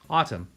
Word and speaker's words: autumn: tum uh um and there's a silent letter N at the end Autumn our next word is